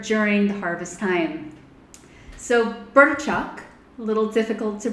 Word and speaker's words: Burčák: Czech people here during the harvest time so birth Chuck a little difficult to pronounce is also known as Federer in Austria